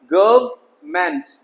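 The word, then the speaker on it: government: गवर्नमेंट, अब इसे एन क्या करते हैं? गवर्नमेंट, गवर्न, गवर्न, ये साइलेंट हो जाएगा। गवर्नमेंट, गवर्नमेंट नहीं, ये वाला एन बीच वाला, गवर्नमेंट नहीं होगा ये, तो एन साइलेंट करेंगे तो गवर्नमेंट, सरकार।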